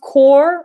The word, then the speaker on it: corps: the word hmm but it's pronounced core not corpse the police core so